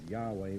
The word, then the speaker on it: Yahweh: h okay and and what we would pronounce as yahweh with a y they would produce a